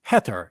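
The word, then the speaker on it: Hathor: at dendara is consecrated to hator pronounced heter in Egyptian meaning the house of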